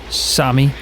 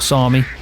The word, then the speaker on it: SAME: I mean, I was saying same, but that's the first time I've ever had to pronounce that tractor. But it is Sami or Sami, however you want to pronounce it.